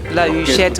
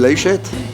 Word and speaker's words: La Huchette: with the Caveau de la Huchette Orchestre. How do you say it? L'orchestre du Caveau de la Huchette. It's a mouthful. It's hard to say La Huchette for an anglophone.